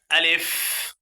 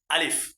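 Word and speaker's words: ألف: দেখেন লক্ষ করেন আলিফ। এ হরফটির নাম কি বলেন? আলিফ। এ হরফ নাম হল আলিফ। এ আলিফে কোন টান দেওয়া যাবে না।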